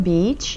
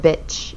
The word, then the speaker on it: beach: So, bitch와 beach 길게 발음해 주셔야 되는 거 잊지 마시고요.